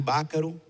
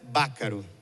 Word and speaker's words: Baccaro: Durante a vida toda, Mário teve que explicar a pronúncia de seu nome era Baccaro e não Baccaro, como habitualmente as pessoas falam.